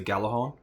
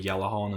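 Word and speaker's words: Gjallarhorn: The first one though that I had a really hard time getting hold of was the Galahorn, or the Yellowhorn as it's supposed to be pronounced.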